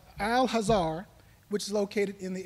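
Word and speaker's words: Al-Azhar: to 950 859 A.D the next school is pronounced al-hazar which is located in the area of Egypt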